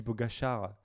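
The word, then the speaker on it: Pogačar: Parce qu'en fait, c'est Pogacar. un. Pogacar. En fait, il est slovène et en fait, Hein. il s'écrit Ah, Slovène. Pogacar, en plus. Pogacar, sauf que sur le C, il y a un petit chapeau, mais à l'envers, tu vois.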